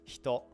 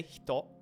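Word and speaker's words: ひと: So you pronounce it as if you move your mouth to like pronounce the E, but you just don't turn your voice box on, essentially. So it comes out as hito.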